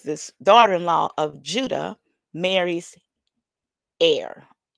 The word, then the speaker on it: Er: took a wife um of his oldest son air which is pronounced really I see the pronounce the correct